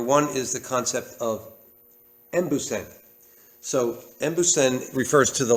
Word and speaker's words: embusen: And the word en, when it's said in this word, it's sometimes just pronounced as em.